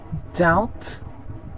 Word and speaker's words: doubt: methodology all right now let's see where to not pronounce the b in English that debt crime climb comb comb tune thumb thumb doubt doubt crumb crumb all